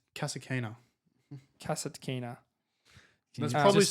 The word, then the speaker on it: Kasatkina: Daria Kasatkina.